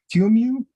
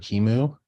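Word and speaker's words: QEMU: do you say that qmu I I've heard different people pronounce it different ways I always heard Kimu or at least but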